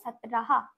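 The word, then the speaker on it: सत्रह: 17 আমরা লিখবো দন্তস্ব ত র আর হ, তাহলে কি হলো? সতরাহা, সতরাহা।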